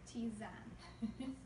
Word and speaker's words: tisane: Anyway, but herbal teas would be, scientifically, they're going to be a tisane, and it's spelled Tisane or Ptisane, but it's pronounced tisane.